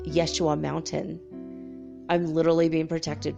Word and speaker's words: Yeshua: yahaya used to call i used to say his name was yeheshawa because that's how i've always said it and then i realized that everyone's calling him yeshua and when i left